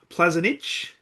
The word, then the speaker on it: Plazinic: Uh really looking forward to this conversation and a very special welcome to Alexandra uh Plazanic. How did I go? Very well. Yes, you pronounce it very good.